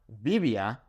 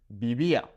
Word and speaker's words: vivía: Okay, it's not vivía, right? Or vivía. No, it's vivía.